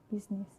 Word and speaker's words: business: It's usually pronounced, except for the word business.